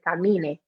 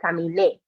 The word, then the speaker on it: caminé: And again, making sure we're really putting the stress on that E at the end, because otherwise we would pronounce it, if there's no accent, we would pronounce it camine. And that's not right. It should be caminé.